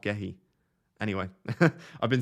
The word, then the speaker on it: Gehi: So, Gehi is pronounced Gooey. Gooey. I don't think it is pronounced Gooey. I watched an interview with him and he said Mark Gehi.